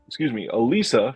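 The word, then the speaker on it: Élisa: This one is from Altered Innocence, and it's pronounced, Elisa from 1995.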